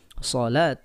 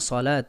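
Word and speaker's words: صلاة: dengan kerangka of money maka tulisannya seperti sholawat akan tetapi dibaca shalat Aya ini karena menggunakan kerangka odmoney ya dengan kaidah penambahan huruf wawu ya maka dibacanya salat ta tapi kalau kita menggunakan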